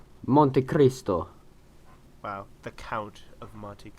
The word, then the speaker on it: Monte Cristo: You gotta roll that R. Monte Cristo. I can't roll R. I literally cannot roll R's. Monte Cristo. No, you say it. Say Monte Cristo, rolling your R. Monte Cristo.